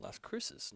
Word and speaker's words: Las Cruces: Las Cruces, New Mexico.